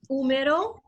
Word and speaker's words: húmero: Húmero. Exactly, yeah. So, el húmero, and again, that's got an accent on the U.